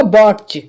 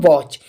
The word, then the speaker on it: watch: लिख देता हूँ WATCH, तो अगर न्यू स्टूडेंट्स होगा तो वो इसके लिए पढ़ेगा बॉट्च, बॉट्च, क्योंकि टी का वो टा लगा देगा यहाँ पर। ठीक है, बॉट्च पड़ेगा। लेकिन मैं यहाँ पे बात करूँ, यहाँ पर टी साइलेंट होगा, इसके लिए हम पढ़ेंगे वॉच।